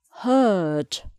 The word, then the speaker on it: heard: Yesterday, I heard. So the vowel sound changes.